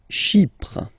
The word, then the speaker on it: Chypre: Chypre. So remember, we've got this Y letter here, but then phonetically when you pronounce it, it's like I, okay?